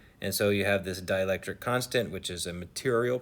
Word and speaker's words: dielectric: it has a dielectric a dielectric not dielectric dielectric spelled like die like die die electric dielectric constant of 2.6 so